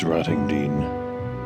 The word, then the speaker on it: Rottingdean: I had various pronunciations of that name in the video. It's Rottingdean.